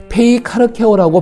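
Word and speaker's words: πειθαρχέω: 특별한 언어를 사용하고 있습니다 페이 카르 케어라고 발음되는 헬라어 언어인데 한글 성경은 순종하다 혹은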